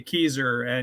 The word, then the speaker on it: Kieser: yeah i tell people just think old geezer but with the k keyser and you'll get my